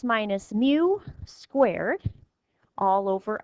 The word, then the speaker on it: mu: is mu is our population mean it says pronounce it as mu so this is still math we have some